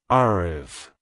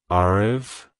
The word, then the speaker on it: Aarav: sound it's pronounced as arv arv arv to pronounce it correctly emphasize the a sound at the beginning and the UV sound at the end the r is pronounced softly almost like a gentle